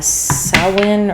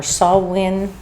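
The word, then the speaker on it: Samhain: It is um also known as sin or swin. People pronounce it differently.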